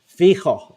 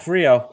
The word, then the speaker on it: Fijo: right uh don't tell it's fijo is the name of his band yeah not Frio like I would mispronounce it I was gonna say